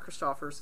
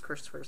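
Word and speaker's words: Christophers: i ran into amy christopher's which by the way it's not christopher's it's christopher's i've been saying it wrong forever apparently in fact we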